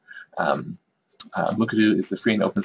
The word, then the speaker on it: Mukurtu: CMS let's talk a little bit about the pronunciation as you've been hearing me say it is muku um muku is the free and open source solution for